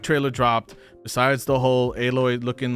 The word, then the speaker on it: Aloy: How do you pronounce her name? Aloy.